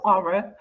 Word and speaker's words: consortium: CONSORTIUM. Aura. She say aura. TIUM. Okay, Consortium. okay. So it's you're saying it's pronounced Consortium. consortium, Yeah, consortium. but it's It spelled consortium. Okay.